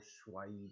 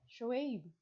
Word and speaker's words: Shoaib: That's not how you pronounce his name. How do you say it? Shoaib. No, there's like a sound that's not English. Bro, it's Shoaib. Schweib. It's not Schweib. His dad doesn't call him Schweib.